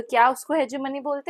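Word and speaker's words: hegemony: गया था कि जो हेजमनी है या हेगमनी जिसको आप कभी-कभी बोलते हो वैसे इसको हेजमनी प्रोनाउंस करते हैं।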